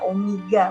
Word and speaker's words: omega: Omega itu bukan W, ya omega, bacanya omega.